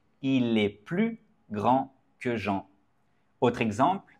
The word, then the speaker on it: plus: par exemple je n'ai plus fin vous ne voulez plus venir ici c'est une négation donc on ne prononce pas le s je n'ai plus fa